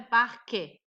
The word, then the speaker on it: parque: Por exemplo, a palavra parque. Esse E final não tem acento, então se transforma em I. Aí eu falo parque.